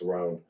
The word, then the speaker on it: Roan: and he was like, yeah, it's not Rowan, it's Roan.